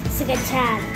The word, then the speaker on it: scacciata: Well, we're making scacciata. Scacciata. Say it like real Italian, like scacciata.